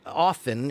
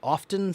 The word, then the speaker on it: often: Ali wants to know in the word often is the T silent or not both are fine some people say often some people say often we say both sometimes I say often sometimes I say often both are are 100% correct and acceptable okay you want to